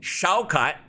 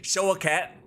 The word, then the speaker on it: Shaukat: Shaukat, or as Booker T likes to say, Show a Cat.